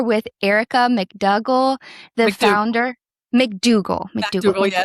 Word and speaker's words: MacDougall: MacDougall.